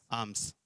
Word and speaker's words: alms: यहां पर जो दान लिखा है, दान शब्द जो है इसका अर्थ है, जो इंग्लिश में लिखा है आर्म्स, यानी कि ALMS, L इसमें साइलेंट है, ALMS, आर्म्स कहते हैं।